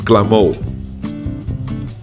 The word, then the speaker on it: clamor: at that last word that last word it's pronounced glamour and yes glamour translates